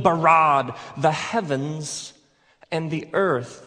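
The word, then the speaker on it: בָּרָא: Now, the word for create is the word bara. Let me hear you say bara. It's this forceful, energetic word of making things out of nothing. In the beginning, Elohim barad the heavens and the earth.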